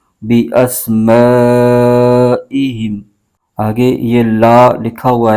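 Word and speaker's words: بِأَسْمَائِهِمْ: ہے اور میم ساکن، ہا کو میم کے ساتھ ملائیں گے، ہجے یوں کریں گے با زیر بی، حمزہ سین زبر اس، بی اس، میم الف زبر ما، بی اسما، حمزہ زیر ای، بی اسمائی، ہا میم زیر ہم، بی اسمائہم۔ آگے یہ لا لکھا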